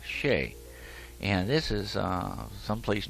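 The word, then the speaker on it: Chelly: h e l l y but it is pronounced sheay and this is uh someplace new for us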